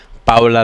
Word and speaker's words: Paola: watching Gabriela and Paola or as it's properly pronounced Paola Langoria taking on a tough American team of Cheryl Lots and Rond Reich.